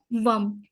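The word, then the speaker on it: वं: इसका बीज मंत्र है वम, VAM, वम, वम। इसका प्रोनाउंसिएशन ये है।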